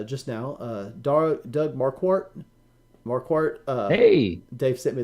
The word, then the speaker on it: Marquardt: new members uh just now dar Doug Marquardt more Court uh hey Dave sent me the pronunciation so Doug Marquardt has become supporter in